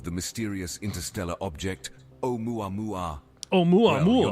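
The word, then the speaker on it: ʻOumuamua: Are you having trouble pronouncing the name of the mysterious interstellar object, Oumuamua? Oumuamua. Well, you're not alone. Okay, there we go. Oumuamua.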